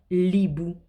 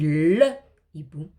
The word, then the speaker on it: hibou: Mais je ne peux pas dire l'hibou ou l'hérisson. Je dis le hibou, le hérisson.